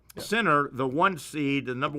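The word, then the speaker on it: Sinner: pronounces his name it's like center center the one seed the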